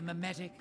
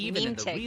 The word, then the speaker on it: mimetic: Humans naturally have a curiosity for the unknown, and mimetic viruses take advantage of this. So it's mimetic. I always thought it was like saying. I thought it was pronouncing it like meme-tic, and I'm like meme-tic